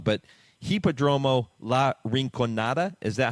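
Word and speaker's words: Hipódromo La Rinconada: and correct me if I I say the name wrong but hippodromo La rinonada is that how you pronounce it that's correct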